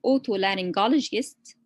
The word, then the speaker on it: otolaryngologist: We divide it into syllables, parts. We say otolaryngologist.